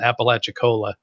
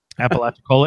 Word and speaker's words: Apalachicola: We've got a little place around here that's called Apalachicola. Apalachicola, is it spelled the same Yeah, it's like Appalachia Cola.